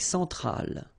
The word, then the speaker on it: Centrale: L'Amérique centrale. Same thing here. Centrale, remember, E-N, nasal, so it goes in your nose.